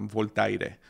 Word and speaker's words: Voltaire: no sé cómo decirlo en español pero bueno voltaire voltaire lo había puesto en Google y